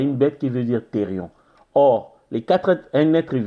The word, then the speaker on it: thérion: Je dirais éthérion, c'est thérion. T-H-E-R-I-O-N.